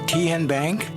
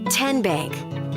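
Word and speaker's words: TnBank: How do you say the name? Kien Bank. Nope. Kin Bank. Uh-uh. So, what is it? Tenbank. 10 as in Tennessee.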